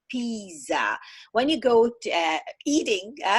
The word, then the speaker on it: Pisa: yesterday we were visiting Pisa together one of the first mistake is to pronounce the name of city Pisa as the famous Italian dish pizza so a lot of